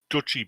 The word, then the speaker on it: Deutsche: also seeing Big Lots they pronounce that wrong it's dutchie Bank okay London 100 ended